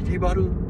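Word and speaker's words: 西原: も結構、西原とかじゃなくて入りばるって読むか、あれ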